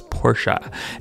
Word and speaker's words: Porsche: the 96 Porsche Carrera, or Porsche Carrera, however you guys want to pronounce it. The proper way though is Porsche.